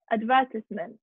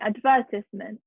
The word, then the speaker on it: advertisement: the uk first one advertisement advertisement the stress is in the beginning advertisement advertisement sorry the stresses here on the v advertisements advertisement the first syllable is weak advertisement advertisement either we